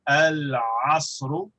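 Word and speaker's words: العصر: Ayn is pronounced from the throat, and so it is far away. We go al-asru.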